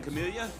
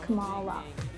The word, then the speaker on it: Kamala: Morning, Camellia. Morning. Shut up. That's not her name. Like for years, my name's pronounced Kamala.